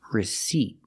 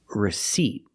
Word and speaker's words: receipt: there a p no you do not pronounce the P because it's silent recet reset versus recipe